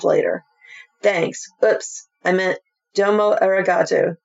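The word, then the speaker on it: どうもありがとう: Oops, I meant Domo Eraato. Pronounce it Domo. Domo Eraato.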